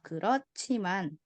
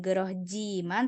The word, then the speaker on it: 그렇지만: 그렇지만 네. jadi bacanya bukan gerohjiman tapi 그렇지만 sama 많고 많고.